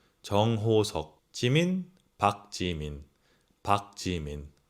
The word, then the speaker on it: 박지민: 지민, 박지민. 박지민. It might sound like a P, but it's not a Park Jimin, okay? It's Park Jimin. Please don't say it's close to a park.